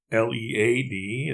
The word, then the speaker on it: lead: L-E-A-D is here pronounced as lead.